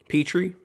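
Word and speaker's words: Jalen Pitre: even though he's secondary jalen peter is that how you say his name scott is it peter petrie petri thank you uh i think nfl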